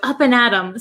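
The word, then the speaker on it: up and at 'em: So the actual word is up and at them, but we don't pronounce it them. We say m. We take off the th sound. So up and atom sounds like you're gonna you're gonna face your day.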